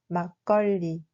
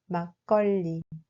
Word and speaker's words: 막걸리: Ce mot se prononce en réalité comme 막걸리. 막걸리.